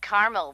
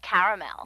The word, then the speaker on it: caramel: Actually, you said caramel when it's pronounced caramel.